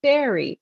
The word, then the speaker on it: Bury: I grew up in Bury on Victoria Road, the road to Canterbury. I noticed that you pronounce the town as Bury, but I only knew it as Barry.